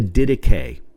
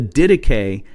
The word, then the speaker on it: Didache: It is the dedicay. And let me spell that for you.